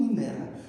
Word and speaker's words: Венера: Венера. І відповідь Венера. Куди падає наголос? слові Венера. Саме на третій склад.